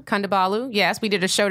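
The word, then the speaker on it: Kondabolu: Kandabalu.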